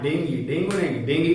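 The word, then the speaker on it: dengue: और जब हम लोगों को डेंगी होता है, हाँ डेंगी कहते हैं, करेक्ट प्रोनाउंसिएशन डेंगी है।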